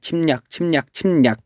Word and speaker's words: 침략: 침략 했을 때 발음해 보세요. 침략 이렇게 되죠. 침략이라고 발음이 되기 때문에 이 리을이 니은으로 또 바뀌었습니다.